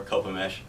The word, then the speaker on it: Copemish: Pronounce it Copa-mish? Or If you're Copa? saying it fast, kind of just Copemish. If I'm trying to, tell somebody who's never heard of it before, Copemish.